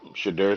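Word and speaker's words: Shedeur: black quarterbacks drafted in the first round yep chidur Sanders I said it right this time Sanders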